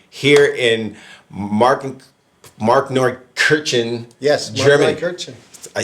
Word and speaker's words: Markneukirchen: Markneukirchen. I said it right. Fuck, can you believe that? Markneukirchen.